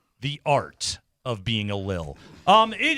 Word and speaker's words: Lil: Dobbins uh to Little Jordan. Uh bunch of roster stuff going on. I'm I'm sorry. You added an extra syllable. Can you say that again? What? It's Lil Jordan.